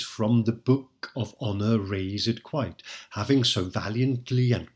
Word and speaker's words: razed: And note that raised is pronounced with 2 syllables here, razed.